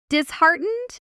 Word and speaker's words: disheartened: Disheartened. Disheartened by the rejection. Notice the stress pattern. Disheartened. you. The stress lands on the middle syllable on the word heart hiding inside it.